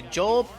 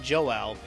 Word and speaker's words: Yoel: Joel Payams. It's Yoel, not Joel.